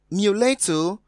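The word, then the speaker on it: mulatto: d is pronounced public so going by that we have muleto having the stress on the second sea level which is different from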